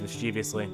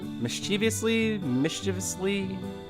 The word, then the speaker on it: mischievously: Nikki grins mischievously. Is it because for once I wasn't slaving away in the kitchen waiting for you to come back? Mischievously? I think it's mischievously is how you actually pronounce that.